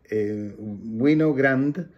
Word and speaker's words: Winogrand: Entonces, Garry Winogrand, que se escribe Garry con dos R y una Y, y Winogrand como vino, pero con W, y Grand como grande, pero sin E.